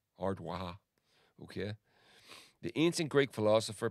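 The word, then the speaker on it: Ard Mhacha: It's pronounced Waha, Ardwaha.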